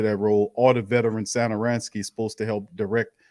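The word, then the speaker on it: Satoranský: I can't even say Zadaransky no more, bro. I gotta take the Z off of there, and I gotta pronounce it right because that was embarrassing.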